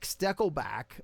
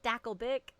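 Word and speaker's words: Stakelbeck: Eric Steckelback of the Watchmen TV show on CBN. What was that? He never seems to say it right good enough for Mom to. Is it Steckelback or Stackelbeck? Stackelbeck.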